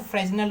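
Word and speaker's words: Fresnel: इसे कुछ लोग फ्रेनल कहते हैं, फ्रेनल, इसको आप फ्रेनल भी कह सकते हो, एस साइलेंट, और कुछ लोग उसको फ्रेजनल भी कहते हैं। ठीक है, कोई गल नहीं, कोई दिक्कत नहीं, जैसा आप चाहो वैसे प्रोनाउंस कर सकते हो।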